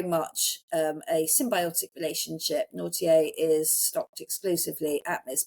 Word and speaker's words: Nortier: But nautier which is actually spelled like not naughty but n very French n o r t i r but naughtier they feels